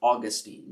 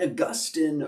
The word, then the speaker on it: Augustine: church, a man named Saint Augustine, or Augustine, depending on how you prefer to pronounce his name. And Saint Augustine was a bishop.